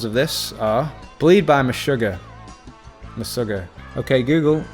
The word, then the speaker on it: Meshuggah: some other examples of this are bleed by meshuggah the sugar okay google how do you pronounce me sugar that's pronounced meshuggah animals by